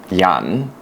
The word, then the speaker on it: Jan: your names but look my name is Yan but it's spelled Jan and my name constantly